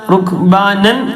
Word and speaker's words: ركبانا: റുക്ബാനൻ എന്ന തെൻവീനാണുള്ളത്. തെൻവീൻ ഫത്ത് ആകുമ്പോൾ നേരത്തെ പറഞ്ഞു, തെൻവീൻ ഫത്ത് നീട്ടിയിട്ട് തന്നെയാണ് വഖഫ് ചെയ്യേണ്ടത്. എങ്ങനെ? റുക്ബാനൻ എന്നുള്ള റുക്ബാന. فإن خفتم فرجالا أو ركبانا